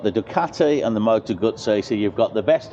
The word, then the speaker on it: Guzzi: Ducati and the motor gut say so you've got the best of both worlds and that's motor gutsy as I've been motor guts yeah as I've been told to pronounce it many times now by by viewers